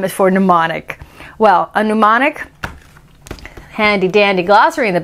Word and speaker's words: mnemonic: my brain is melting m is for mnemonic mnemonic is your head exploding off of your neck yet because mine is starting to but now mr m can't remember why m is for mnemonic well a mnemonic handy dandy glossary in the back tells us